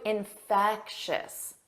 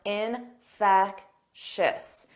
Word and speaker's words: infectious: Let's review infectious. Notice that 3 sounds: infectious, infectious. And the syllable stress is on the second syllable.